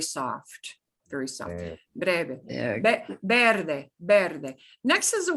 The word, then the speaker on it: verde: Next is the word for green, verde, verde, verde. And you'll pronounce that Verde. V like a be, but very soft, very soft. Eh, Breve, Verde.